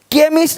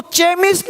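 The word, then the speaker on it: chemist: chia bench अब सी से च हो गया बेंच ये तो पता होगा साउंड आपको केमिस्ट अब इसको चेमिस्ट नहीं पढ़ेंगे चेमिस्ट चोपड़ा को कोपड़ा नहीं पढ़ेंगे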